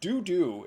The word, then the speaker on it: DouDouuu: So I typed this into Google Translate, and DouDouuu is how Google Translate pronounces DOU space DOU.